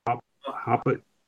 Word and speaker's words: Hopatcong: You just pronounce that, guys? What's it say? I'm not watching. Hold on, me watch the stream. Hopatcong.